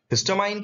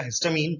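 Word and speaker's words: histamine: हिस्टामाइन क्या होता है, या हिस्टामीन जैसे आप प्रोनाउंस करें।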